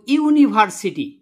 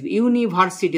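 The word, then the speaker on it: university: যে তাহলে এখানে দেখো ইউনিভার্সিটি পরিষ্কার করে লিখে দিছি আমি উচ্চারণটা কি হল হসই হস নয়সী ভয়াকার দন্ত সরে ইউনিভার্সিটি তাহলে উচ্চারণ প্রথমে উচ্চারণ কি এসছে ইউ এসছে হসই হর্স নিয়মে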